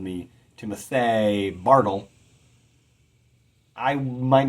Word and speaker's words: Timothy: My name is Timothy. I stress the Tim more than the uthi.